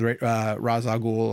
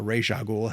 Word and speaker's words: Ra's al Ghul: he go through with Ra's al Ghul or Ra's al Ghul, however you want to pronounce it, how good Liam Neeson was in it.